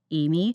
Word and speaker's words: Aemi: So, it's Designs by Amy, and my name is spelled a little funky, but it's a EMI.